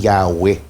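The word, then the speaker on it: Yahweh: nila ng mali m pero pinapaniwalaan ang wika talaga ang wastong pagbigkas niyan ay yahw so saan pumapasok ngayon ng jehovah Mm.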